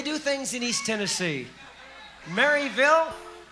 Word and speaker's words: Maryville: Maryville or Murrayville, which is how they pronounce M-A-R-Y-ville.